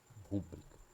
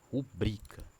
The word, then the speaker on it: rubrica: aprende errado a chama a a como se a pronunciar assim, né? Rúbrica como se próparo cito, né? Mas a sílaba Tô não é no ru, é assim, ó. Ru br rubrica, né? A sí tá no bri, não é rúbrica, certo?